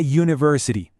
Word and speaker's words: university: Y ahora el desafío final para esta regla, la palabra university, empieza con la letra U, que es una vocal. La lógica inicial nos diría que usemos an, pero ¿qué nos dice el oído si escuchamos bien el sonido? Pues no. La respuesta es a university. Y esto puede parecer raro, pero todo está en el sonido.